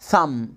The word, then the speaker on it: thumb: when the letter m comes before the letter b we don't pronounce the letter a b.